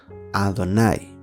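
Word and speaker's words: אֲדֹנָי: Le agregaron vocales para poder entender que esta palabra es Adonai. Si se fijan, esa E es tan corta que ni siquiera se pronuncia. Adonai.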